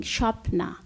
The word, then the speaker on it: Shopna: The first name is more like shopping, Shopna.